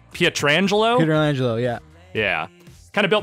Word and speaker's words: Pietrangelo: I kind of built my team around, I don't remember how to pronounce this, Pietrangelo? Pietrangelo, yeah.